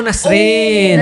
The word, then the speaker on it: Nasrin: Enggak, nama aku tuh nama Persia, Nasrin. Oh Nasrin. Nasrin. Nah, tapi itu ribet lah. Jadi kayak secara dari kecil orang-orang tuh selalu pronunciation-nya salah gitu kan karena tulisannya beda gitu.